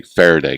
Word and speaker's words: Faraday: And that's quite a bit, but I wanted to start with the Faraday cage. Am I pronouncing it correctly, first of all?